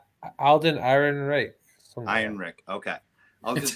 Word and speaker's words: Ehrenreich: I can never pronounce the guy's name. Alden Ehrenreich. Einrich? Alden Ehrenreich.